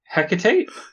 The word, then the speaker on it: Hecate: No, I just was, after we went through that whole tangent on pronunciation. Then you went back to the original. Hecate?